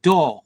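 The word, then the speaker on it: Dore: on the the the suburbs of Sheffield called Door which is spelled D O R E and it was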